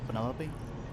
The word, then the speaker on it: Penelope: a pleasure is that short for Penelope officially yes but I never can be bothered with all four syllables of it penel sounds a little